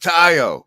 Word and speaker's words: Theo: So yeah, Theo, do you want to have some introductory statement? Yes, not much. I'm just glad to have this Yeah, as an introductory statement, it's pronounced Tayo.